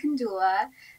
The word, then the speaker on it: Kandula: just wanted to say my name is pronounced kandula thank you so much